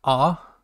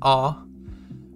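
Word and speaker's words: あ: So, the A is pronounced ah, like you would say in car or awful, so it's ah.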